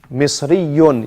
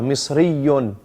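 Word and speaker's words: مصريٌّ: Misriyun. You have to emphasize the ya. Misriyun. Misriyatun. This shadda is to emphasize. You stay a bit longer on the letter.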